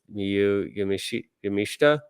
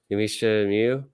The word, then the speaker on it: Miyu Yamashita: Thunder Rosa's match with Miyu Yamashita. I've been saying Miyu Yamashita like a fucking asshole all this time. Yamashita Miyu. The whole thing with Japanese U's are almost never pronounced.